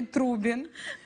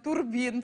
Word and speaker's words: Трубін: цього року, це Анатолій Трубін. Голкіпер Донецького Шахтаря. Чогось я весь час хочу його назвати Турбін. Через це збиваюся в ефірі. Але треба вчити, як правильно вимовляти його прізвище.